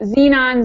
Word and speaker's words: xenon: chobia chopon all right the last five sound like a z sound so it would be Xenon Xerox xenophobia and xylophone oh Z okay all right